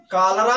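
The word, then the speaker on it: cholera: C plus H हो तब भी उसका उच्चारण क होता है।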